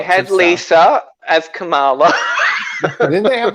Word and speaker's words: Kamala: Lisa as Kamala.